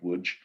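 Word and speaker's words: Łódź: The families themselves come from Lodge, well, it's spelt Lodge, but it's pronounced Wooge, and Lonza, very pious, very observant family members.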